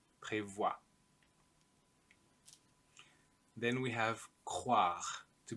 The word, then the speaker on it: prévoit: Il, elle, on prévoit. And here, nous prévoyons. So the I is replaced by a Y. Vous prévoyez. Il, elle prévoit. Make sure you don't say prévoie. Prévoit.